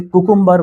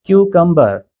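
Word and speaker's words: cucumber: क्यूकंबर लेकिन यहां पे भी देखने में आया है लोग उसे कुकुंबर वगैरह कुछ इस तरह से प्रोनाउंस करते हैं जो गलत है। आपको कहना है क्यूकंबर हमारी आर्मी में जो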